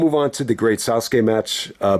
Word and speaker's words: Sasuke: on to the great Sasuke match uh Ben W was actually pronouncing it as the great suzuk but however you want